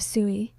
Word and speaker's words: SUI: Today, I'm going to tell you the full story of Sooie.